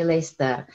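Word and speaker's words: Leicester: yang mungkin udah kanan Itu kan lechter mungkin bacanya Sorry tulisannya les tapi kita bacanya disini lechter itu warnanya Nah jadi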